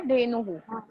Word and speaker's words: धेनुः: यस, धेनु के बाद हु बोलना है, सिर्फ ह नहीं. ओके, धेनुहु एंड गर्दभः र वहां पे प्रोनाउंस करना है.